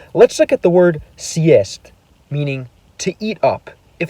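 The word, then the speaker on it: съесть: forced to respect its hardness and use the pronunciation beginning with y. For example, let's look at the word siest, meaning to eat up.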